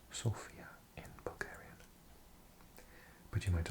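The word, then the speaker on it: Sofia: capital of Sophia we in English often say Sophia but I had a friend from Bulgaria from this city and he said it's pronounced Sophia in Bulgarian but you might also have he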